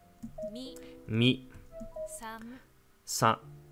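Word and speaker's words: さん: Das ist eine ganz schöne Überbetonung von dem N, von dem, also dem zweiten Silbe, dem, nach dem Sa, den N. San. Das klingt eher wie Sam, also als würde sie es ein bisschen wie ein M aussprechen statt einem N.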